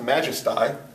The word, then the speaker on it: majesty: and the reason is it used to be pronounced majesti to rhyme with by and now it has a different it has a different sound uh so and anyway